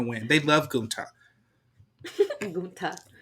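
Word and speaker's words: Gunther: Gunta. I like how like the more you say it, there's more of an emphasis on the last syllable.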